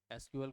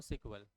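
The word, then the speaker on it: SQL: है पढे आप कभी एस क्यूएल एस कल को क्या प्रोनाउंस करते सीक्वल एसकल नहीं बोलते क्या बोलते उसको सीक्वल और एक होता है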